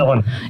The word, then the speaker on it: Illinois: And first of all, I got to ask, do you pronounce it Illinois or Illinois? This is a dumb Southern question. Illinois.